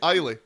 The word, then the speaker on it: Isla: It's better than my pronunciation. See, I've ruined it for everyone. What was now. it? Isla. Ayla.